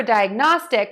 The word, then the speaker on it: diagnostic: diagnosis diagnoses and last for diagnostic we actually do have a vowel change here we are going to say die ugh like we have been and then we're gonna add nah and then end with stick diagnostic diagnostic diagnostic diagnostic